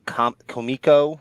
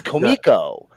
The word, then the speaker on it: Comico: for years I would say the name of komiko the wrong way is Comico is the way it's spelled I don't know if you're familiar with